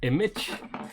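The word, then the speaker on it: Immich: I've been playing around with this open source project, Image, spelled like I-M-M-I-C-H.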